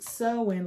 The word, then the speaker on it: Samhain: It's Samhain, sorry, but it's pronounced sowing, like sowing seeds inside of something, sowing.